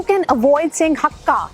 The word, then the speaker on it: Hakka: लेकिन मैंने कई लोगों को सुना है कि वो कहते हैं हक्का नूडल्स खाने, हमने हक्का नूडल्स। अरे इतना नहीं लटकना हक्के पे प्लीज़, हक्का नूडल्स। हाँ, that's the right way of saying it, क्योंकि चाइना में एक